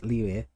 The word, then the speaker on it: Liu: I study Chinese, so I study Chinese, Japanese, and Korean, so Liu is the correct pronunciation.